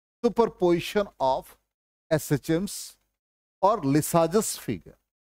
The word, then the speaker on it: Lissajous: बहुत लोग इसको शॉर्टकट में, हम लोग जब मेच्योर नहीं थे तो हम लोग लिसाजो फिगर कह देते थे, ठीक है ना। तो लिसाजस फिगर होता, इसका एग्जैक्ट प्रोनाउंसिएशन अब ये कर्व है,